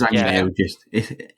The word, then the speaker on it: Zhang Yimou: Yang Yimou? I don't know how you say it. It's just Zhang Yimou.